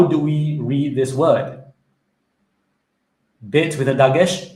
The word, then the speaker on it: bet: Does it have the dagesh mark? And the answer is, yes, it has a dagesh mark. So, in this case, the letter bet would be pronounced with a b sound.